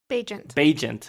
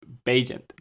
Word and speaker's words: Bagent: Bagent. I apologize. Bagent. And I had to look it up before the podcast. How do you say it? But Bagent, right?